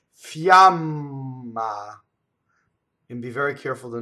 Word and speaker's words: fiamma: So our Y's start from the E position in Italian, right? Fiamma.